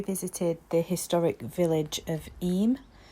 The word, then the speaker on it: Eyam: the historic village of eem it's spelled yam but is pronounced it's in the Peak